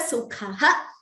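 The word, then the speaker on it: सुखः: Every time a Visarga is followed by Ksha, the Visarga is chanted completely. This is a verse, this is a line from the 12th chapter of the Gita. Samadukkha sukhaha kshami. So here the Visarga is recited completely. Here, look at the pronunciation of this word, dukkha.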